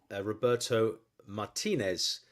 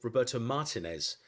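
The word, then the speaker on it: Roberto Martínez: not more for years the Roberto Martinez as it's actually pronounced was called Roberto Martinez in the UK when he was Everton um manager I don't know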